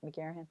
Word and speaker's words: McGarrahan: I love reading, any, like, I think you interviewed Ellen McGarrahan, for, did I say her name right? McGarrahan? Yes, that's right.